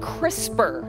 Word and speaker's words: CRISPR: I'll go back it's called crisper and it's spelled CRI SPR yes that's how it's spelled there and it may